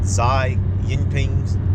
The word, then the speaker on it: Xi Jinping: started punching holes in Xi Jinping's, that's how you say his name, Jinping, resurgent narrative after the country abandoned its draconian zero-C policy.